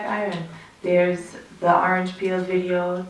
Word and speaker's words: Iron: Lion. It's Iron.